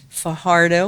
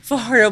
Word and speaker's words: Fajardo: am recording live from Fajardo, which I keep saying wrong. I'm supposed to roll my R, they say, with it. Do you know how to say it right? No. No? Fajardo, Puerto Rico, and it is beautiful here.